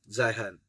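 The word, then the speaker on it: Zeihan: is Peter's High hand Peter z e i h a n zahan I think that's how it's pronounced uh apologies if it's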